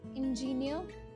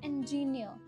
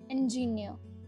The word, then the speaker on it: engineer: many many people lots of people who are pronouncing this word this career title wrong they say it as ingenio this combo of e and n is not engineer it's engineer that n sound is coming here so engineer